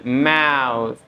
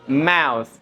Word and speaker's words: mouth: Tapi Akil F terlalu F tadi ya. Mus. Ditahan dikit. Nah, terlalu S, terlalu F, terlalu apa itu? Tahan dikit. Mouth, dikit aja anginnya keluar di ujungnya.